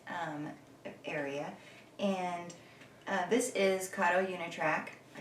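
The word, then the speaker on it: Kato Unitrack: our wonderful christmas um area and this is karo yunatrack i said it right for all you beginners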